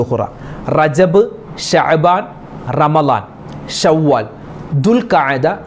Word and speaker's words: ദുൽഖഅദ: ദുൽഖഅദ എന്ന പല ആളുകളും ദുൽഖാദ മാസം, ദുൽഖാദ എന്ന് പറയും, ദുൽഖാദ മാസം, അത് ദുൽഖിദ മാസം, അങ്ങനെ പല രൂപത്തിലാണ് ആളുകൾ പറയാറുള്ളത്. എന്താണ് കറക്റ്റ് അതിൻ്റെ ഉച്ചാരണം എന്താണ്? ദുൽഖഅദ എന്നാണ് അതിൻ്റെ ഉച്ചാരണം. ദുൽഖഅദ.